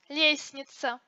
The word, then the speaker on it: лестница: Согласные «д», «т» среди других согласных между гласными не произносятся. Счастливый, лестница.